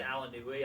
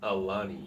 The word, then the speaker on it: Alani: I've always said Alanui. I know I've always said Alanui too, but I know just it's not looked right. at it today and it's Alani.